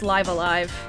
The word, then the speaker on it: Live A Live: tie boo so it's it's pronounced live alive just so y'all know